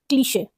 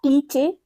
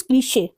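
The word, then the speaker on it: cliché: 72, क्लीशे। इट्स नॉट क्लीचे, इट इज क्लीशे।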